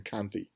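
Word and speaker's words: Kanthe: here is Prince I I say his name Kanti k-a-n-t-h-e and he's connected to the bad guy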